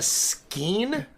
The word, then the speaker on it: skein: A skein?